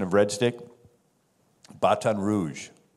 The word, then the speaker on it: Baton Rouge: You know the French pronunciation of Red Stick? Baton Rouge.